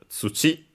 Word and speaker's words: 土: Its strictly Japanese reading is tsuchi, accented on the last syllable.